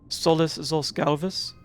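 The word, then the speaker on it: Solus zos Galvus: The pronunciation for his name, Solless Zalvus.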